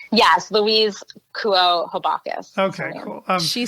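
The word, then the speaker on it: Louise Kuo Habakus: that we're going to refer to, written by Luis Habacus. You probably butchered that name. That sounds awful. I'm sure her name does not sound like that. How do you say her name? Yes, Louise Kuo Habacus.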